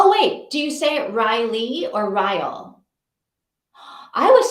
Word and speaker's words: Ryle: with Kylie oh okay Ryle rhymes with Kyle Riley rhymes with Kylie am